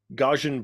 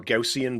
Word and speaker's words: Gaussian: I think it's like Gauss in a house type blurs, but that's what's causing this feeling of depth, right?